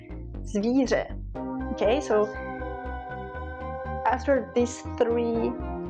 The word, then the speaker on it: zvíře: R, and loudly, R, zvíře.